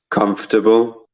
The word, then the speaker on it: comfortable: you have FNT yeah so the O and the R is really not necessary comfortable okay we can